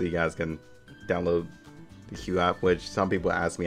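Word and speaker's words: QooApp: It is on the Q app also, so you guys can download the Q app, which some people ask me how it's spelled.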